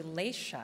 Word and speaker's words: Laysha: and the target foundation laisha good afternoon my name is actually laisha but i like that pronunciation sounded sort of exotic